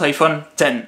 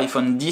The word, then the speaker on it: iPhone X: reste un mix mais ça se prononce iphone tél alors normalement dit l'iphone 5 mais comme tel c'est pas français est ce qu'on dira iphone 10 sous iphone os x à choisir je préfère dire iphone os x iphone 10